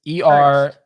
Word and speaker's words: Ernst: And is it Ernest? Because it's Ernst. ERNST. Well, I could be also pronouncing, Ernst. or maybe like Ernst because he's Lubitsch. German. So Oh. if anybody speaks German, I'm gonna say Ernest because that's easier for my American tongue to say.